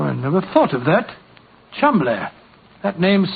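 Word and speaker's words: Cholmondeley: know that the name Chumley is in no way pronounced the way it is spelt. Oh, Joe, I never thought of that. Chumley. That name's spelt C-H-O-L, Chow, M-O-N, Mon, D-E-D, L-E-Y. Chol Mondele.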